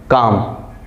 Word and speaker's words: calm: हमने आपके सामने CALM, इसको हम क्या पढ़ते हैं, काम बोलते हैं ना, कीप काम, काम। L का साउंड कहाँ गया, तो ये जो L होता है ये हमारा साइलेंट होता है, मतलब L को हम बोलते नहीं हैं।